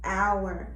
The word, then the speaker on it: hour: a word sometimes h is silent in the beginning of the word hour as you can see hour you don't hear the